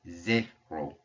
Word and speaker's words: zéro: So anytime you see it on top of an E like this, the sound comes out as an E. It's like you're smiling and you're pronouncing the letter A. E. So when we see this, it's zéro. Zéro.